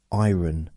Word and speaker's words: iron: Mike no Iron Mike iron I need to iron the clothes no you don't need to iron the clothes iron the r is silent uh constantly learning constantly